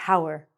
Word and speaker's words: hour: So, if we look at this word the hour We want to say hour. But we actually have our belonging to us. So, this is a homophone.